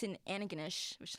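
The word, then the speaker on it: Antigonish: which is saint francis xavier whatever it's in anaganesh which is how it's pronounced not antogonish it's a what that's where it's located like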